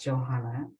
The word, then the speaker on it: Johanna: to as Jay and my name is pronounced Johanna by Johannesburg South Africa thanks and I'm Q